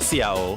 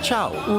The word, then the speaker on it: ciao: Oh, and it's not Ciao, it's pronounced Chow.